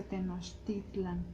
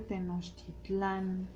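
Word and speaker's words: Tenochtitlan: decir que se dice tenostitlan no se dice tenostitlan las palabras en aguat amigos son la mayoría salvo pequeñas excepciones son palabras graves nos no va el no va el acento hasta el final Okay Por eso es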